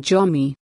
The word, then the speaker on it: Zo: sensible to call them Jomi. The word Zo should thus be pronounced correctly as Jo, and not as Ju, as used in Zomi, Mizo nomenclatures today.